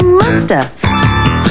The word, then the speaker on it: must have: mean must have been we can say in conversation and sometimes we don't pronounce the v and so you hear musta she must have been